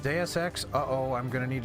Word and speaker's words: Deus Ex: Wait, once again getting word it's pronounced DSX.